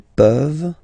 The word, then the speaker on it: peuvent: Tu peux, il peut, elle peut, nous pouvons, vous pouvez, ils peuvent, elles peuvent. Okay? As usual, this ending, this ENT ending, you write it, you don't pronounce it.